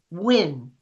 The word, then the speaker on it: Nguyen: Nguyen? I don't know. It's House District Nguyen. 33. It's Win.